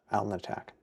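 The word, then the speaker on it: Alnitak: um or Brian's belt alen attack I forgot the t alen attack so so that so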